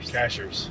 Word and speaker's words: Cashiers: Cashiers. Yes. But... I think we're saying that right. That's how the locals say it.